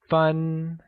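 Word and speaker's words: 分: vocabulary so let's start minutes translates to fun and is pronounced with a high level tone here's a quick grammar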